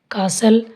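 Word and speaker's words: castle: टी कहाँ कहाँ silent होता है इसका भी रूल है टी is silent before L, यानी एल से पहले अगर टी आए तो टी साइलेंट होएगा।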